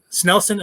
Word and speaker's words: Snelson: so before we get into talking about snel snelson am i saying that right you are you